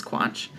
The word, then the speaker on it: Quach: U A C H cuz my last name is Quatch and Sass like I'm sassy.